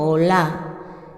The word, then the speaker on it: Olá: Habla, número 1, de las ofrendas Olá, con acento Olá, que significa holocausto.